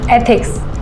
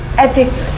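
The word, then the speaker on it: ethics: कि निम्मी कहां है इथ शुड थिक्स नहीं एथिक्स ऐसे प्रोनाउंस करो एक बार बोल के बताओ एथिक्स अच्छा ये शमा का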